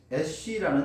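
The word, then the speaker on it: אֵשׁ: 세겜에서 나온 불이었던 것이죠 여자라는 히브리어 단어가 이샤라고 발음들이 시작 근데 불이라는 히브리어 단어는 애쉬라는 단어죠 이시아와 애쉬 이것은 언어 유의 비슷한 발음이 나는 단어들인 것이죠 즉 여자가 바로 불이라고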